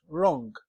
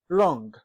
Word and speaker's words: wrong: a sound is absent as in the word wrong wrong play right sort sort don't forget all this